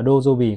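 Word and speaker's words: 土曜日: Chữ kim chính là trong tiếng Nhật họ đọc là kinjobi. Và đến chữ thổ chính là đất, là dojobi các bác nhé.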